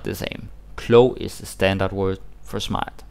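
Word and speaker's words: klog: like the go to the standard word for smart is CLO clo clo clo yeah because if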